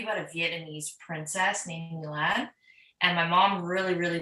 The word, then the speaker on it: Milan: did i get it technically it's pronounced milan but because i'm in canada most people don't know how to pronounce it properly some people still don't know how to say my name correctly um but the easiest way i've explained it to people since i've been like since i was young is milan milan okay okay so so